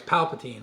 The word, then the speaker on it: Palpatine: I said it right it's Palpatine like I'm saying like hey like he's my pal I'm always saying Palpatine I know just how I say it but trying to correct it Palpatine all right so you